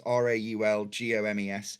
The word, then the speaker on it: Raul Gomez: At the same time as that, also Raul Gomez, who, his name is spelled as it sounds, Raulgomes.